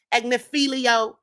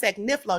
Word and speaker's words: Agnifilo: And could everybody please stop calling this damn man Agnilio? The man's name is Agniflo.